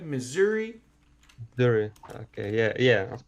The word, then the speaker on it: Missouri: one missouri yeah they're pretty close you're gonna pronounce this like zs missouri missouri very okay yeah yeah of course double c